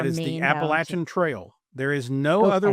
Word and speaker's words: Appalachian: You you mentioned that we um we established that the proper way to say that word is Appalachin.